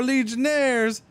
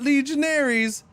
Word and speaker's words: legionnaires: The game just told me the legionnaires are legionnaires, not legionaries. Those are a completely different thing.